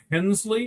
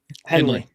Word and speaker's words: Hensley: Abara, his family, um Kyle Hensley, right? That's how you say it. Henley. Henley. Thank you.